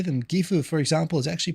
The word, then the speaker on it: Gifu: Gifu, for example, is actually pronounced Gifu, isn't it? Says Ben CG. That's not exactly it. The whole point is everyone says Gifu.